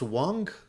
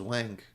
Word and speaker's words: Wong: mean they're not cheap it's pronounced Wong really I thought it was Wang okay I don't know why